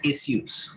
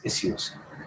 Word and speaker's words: issues: mozambique uh so uh the british pronunciation of this is does not have the sh it's issues okay only s issues so whereas the americans and the indians and all uh most of them say issues okay but this